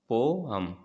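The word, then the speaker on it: poem: बात आती है तो कविता को का जो सही प्रोनाउंसिएशन है वो है पोम और इसको गाने के लिए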